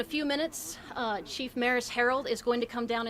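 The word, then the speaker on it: Maris Herold: to happen in a few minutes uh chief maris harold is going to come down and speak as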